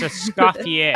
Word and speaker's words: Escoffier: is silent. It's Escoffier.